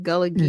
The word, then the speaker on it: Gullah Geechee: So tell us a little bit more about how you've been able to take the Geechee, am I pronouncing it right? Gullah Geechee Gullah Geechee.